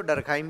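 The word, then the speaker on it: Durkheim: spelling सहित clear है तो जब एमाइल लिखोगे तो डर काइम भी लिखना जब एमल लिखोगे तो दुर्खीम लिख सकते हो आप ठीक लिख लीजिए दोनों एक्सेप्ट एक्सेप्टेड शब्द एमिल दुर्खीम ने समाजशास्त्र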